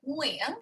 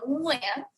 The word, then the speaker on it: Nguyen: back there like Nguyen, whereas the N in English is on the tip of your tongue, right? Like Nancy, right? So it's total opposites, really, which is why when people always ask me, how do you say your last name in English? You literally can't because they're just different worlds, right? But yeah, so just aim for the back of your throat, Neil, and just go, Nguyen.